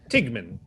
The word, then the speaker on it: Tigman: Tigman. As in rhymes with Stigman? Without the D.